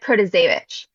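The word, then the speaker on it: Protasiewicz: just say judge Janet uh but it's Janet pravit I mean I was never going to get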